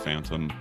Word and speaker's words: PHTNM: So I started a different alias that in all caps is PHTNM. It's pronounced Phantom.